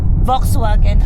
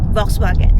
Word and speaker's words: Volkswagen: Top of the line na model nila for Volkswagen Volkswagen Atlas. So we pronounce daw sa German yung V as F and iyung W as V.